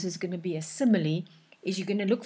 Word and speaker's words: simile: Remember, we pronounce it simile, not smile.